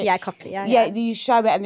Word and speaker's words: cochlear: Yeah, cochlear.